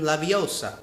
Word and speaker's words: Leviosa: from Harry Potter Wingardium Leviosa you need to pronounce it like Hermione Wingardium Leviosa otherwise the spell doesn't work yeah I know